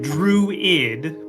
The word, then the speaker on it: druid: Druid. Just two syllables. Yes. But a little smoother like Druid.